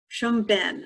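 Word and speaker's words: Pchum Ben: down an observance of oh i'm not going to get this one right chum ben so it's spelled p-c-h-u-m-e-e-n two words and this is one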